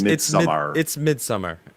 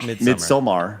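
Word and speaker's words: Midsommar: it's m-i-d-s-o-m-m-a-r so it's mid-summer it's it's not pronounced any odd way that you guys all seem to think it's mid somar yes okay I'm trying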